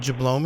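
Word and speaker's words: Jablowme: spell a few words J a BL o WM e it's pronounced jablow me heywood jablome e how wait kill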